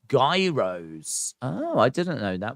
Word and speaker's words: gyros: know days more uh Gyros are pronounced Gyros oh I didn't know